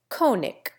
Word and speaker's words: König: In König, the German diphthong succumbs to a long O, and the hard G becomes K. The common pronunciation is König.